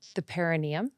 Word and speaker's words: perineum: I'd love to move to the perineum. Is that how you say it? Yes, that's great. I've like not pronounced it correctly this entire pregnancy, but I'm getting there.